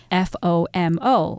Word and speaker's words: FOMO: popular these days and it can be expressed with the acronym fom o or pronounced FOMO which is when people